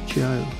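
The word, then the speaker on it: Zhuo: me to joe danting spell z-h-u-o pronounced joe dante now she's an artist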